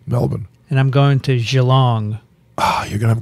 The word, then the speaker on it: Geelong: and i'm going to gee long oh you're going to have great time because i pronounced it and there was a australian scientist at the hamilton she said it's actually geelong you're going to see